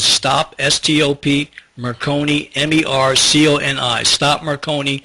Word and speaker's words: Marconi: Stop Marconi. Rhymes with Sindoni, so you realize I wrote it because it was a true story.